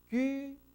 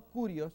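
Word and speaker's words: κύριος: Kyrios. No curios, es kyrios. Kyrios.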